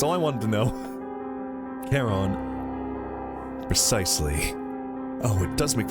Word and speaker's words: Charon: It's Greek. It might be Charon. Wait, hold on. Come on, please. Please load. King clear names in English. Meaning of keen gaze. How do you go about pronouncing it? We're halfway through the video and you haven't told us. I hate this. Reference in Greek, this is said as charon. It is usually pronounced as Charon.